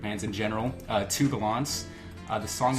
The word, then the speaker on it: Gallants: Uh, to Galants.